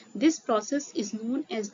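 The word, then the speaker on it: Nginx: Second है इंजन इसका pronunciation ई होता है इंजन।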